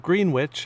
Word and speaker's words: Greenwich: now the village of Greenwich and yes it's pronounced the way it's spelled was once an important